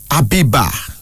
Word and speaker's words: Abiba: Abiba. Abiba. A-B-I-B-A, pronounced Abiba.